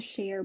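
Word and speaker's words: cher: is sh he says share okay which is like a Cajun term and it's like common in Louisiana and it's spelled c h e r however it is not pronounced like share okay and he keeps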